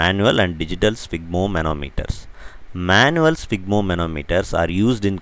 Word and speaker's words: sphygmomanometer: we saw a new word, it's called as sphygmomanometer, an instrument to measure blood pressure. Sphygmos, manometer. So all these three words combined together forms sphygmomanometer. It's very easy, now you can say it along with me. Sphygmomanometer, sphygmomanometer, sphygmomanometer.